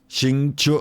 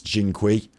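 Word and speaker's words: Xingqiu: Xing Chu. I actually learned how to say his name now. I have never said his name because to me it's Jing Kui.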